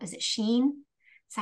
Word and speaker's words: Shein: shopping on, I think it's called, is it Shein? Is that how you pronounce it?